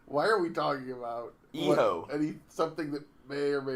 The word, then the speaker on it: Hijo: Eho. El Hijo del LA Park. Eho. Eho? The H is silent and the J makes an H sound.